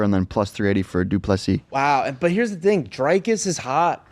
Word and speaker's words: du Plessis: All right, next next we got Whitaker versus Dricus du Plessis. Ooh, Dricus Duplessis? Duplessis.